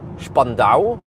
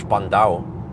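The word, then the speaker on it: Spandau: It seems that I mean it's spelled spando but Germans man everything is s is sh. So yeah. So, I'm guessing it's Spandow, but um okay.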